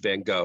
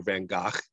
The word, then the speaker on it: Van Gogh: mind the story of vincent van gogh or van gaal depending upon how you pronounce it uh and his